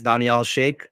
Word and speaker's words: Daniel Shake: diverse names and actually my name is Daniel Shake um that's the actual full pronunciation but I found that